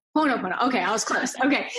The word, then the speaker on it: Ho'oponopono: Ho'oponopono. Ho'oponopono.